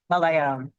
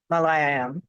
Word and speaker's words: Malayalam: So there's a community, a user group in Kerala in India that focuses primarily on the language I'd always mispronounce it. Right. Yep. Malayalam.